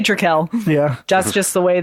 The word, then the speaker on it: Trekell: So how do you pronounce? I say Trekell.